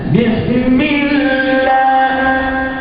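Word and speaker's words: بسم الله: Jadi semestinya Bismillah, makhraj al-jawf ya, dibacanya Bismillah.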